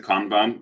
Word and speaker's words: Kanban: And then if you look at the basic principles of Kanban, So you can also pronounce it Kanban. It's both pronunciations are fine, by the way. People use both.